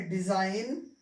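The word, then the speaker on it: design: करेंगे, इनको हम साइलेंट कर देंगे, इनका हम उच्चारण नहीं करेंगे। ठीक है, तो पढ़ेंगे क्या, इसको पढ़ेंगे साइन, ये है डिजाइन, फॉरेन, रेन।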